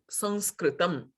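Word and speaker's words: संस्कृतम्: the word became sanskrit they use the n pronunciation but it is neither the n nor the m it is a nasal it is just some samskritam okay and this can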